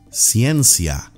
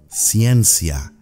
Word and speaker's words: ciencia: school a signature is ciencia science CN SIA repeated with me ciencia that's correct that is